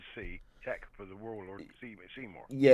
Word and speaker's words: Seymour: Featuring the Warlord Seymour. I am pronouncing that right, ain't I? Yep.